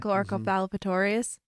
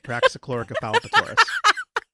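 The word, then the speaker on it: Raxacoricofallapatorius: like, oh yeah, I finally memorized how to pronounce their planet. Yeah, but now it's been a few days and I forgot again. Praxichloricopalpatorius. Wow. Praxichloricopalpatorius.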